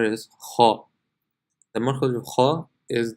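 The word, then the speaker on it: خ: So if you were to say empty mouth, just to hear the difference, empty mouth will be pronounced kha, kha, but full mouth is kha.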